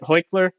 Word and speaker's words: Heichler: say it for me is it hoikler yes exactly oh sure okay thank